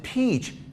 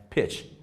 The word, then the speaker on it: pitch: a rugby pitch alright don't pronounce it peach that's a kind of fruit right pitch and here we go